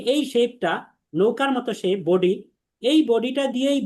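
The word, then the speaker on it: ب: আমরা ব, ব এভাবে বলবো না, আমরা বলবো বা, বা, মুখ স্বাভাবিক রেখে।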